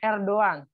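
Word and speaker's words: Erdoğan: contohnya tadi Erdogan ya jadi Erdogan itu cara membacanya r doang karena dalam bahasa Turki Erdogan itu gayanya ada tanduknya jadi cara membaca r doang nah abcde ini lihat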